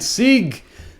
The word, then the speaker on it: Sieg: Sieg, Ryan Sieg. Like Sieg Heil? Yeah.